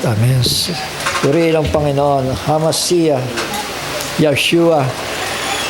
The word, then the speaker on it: Yeshua: Purihin ang Panginoon, HaMashiach, Yeshua. Yan po ang original na pagkakabigkas sa pangalang Heso Kristo.